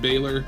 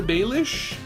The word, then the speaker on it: Baelish: I called him Pete Baylor. It's Peter Baelish / Littlefinger?